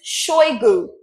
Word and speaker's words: Shoigu: He went and wrote it as if he's a Frenchman because CH in French is pronounced sh. It's not ch, so they wrote CHOI, which is choi, then GOU, which is oo, their own oo in French, OU.